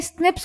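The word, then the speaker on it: SNPs: single base DNA differences स्निप्स single nucleotide पॉलीमोर्फस ज्म pronounced as स्निप्स occur in human this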